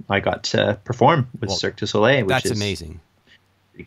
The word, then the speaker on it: Cirque du Soleil: I'm gonna pronounce this incorrectly. Circus Olay, Circus de Soleil. Cirque du Soleil. Whoa, that's way further away than I would have ever gotten it.